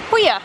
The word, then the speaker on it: Puglia: We're in Puglia, or Puglia as us British people pronounce it.